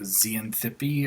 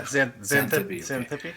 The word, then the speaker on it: Xanthippe: I have absolutely no Xanthippe, or I don't remember how to say it. Yeah, Xanthippe.